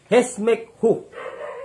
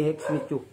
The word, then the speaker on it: Hesmekhu: Hesmekhu. Yun ang tamang pagbigkas, hindi Hesmichu.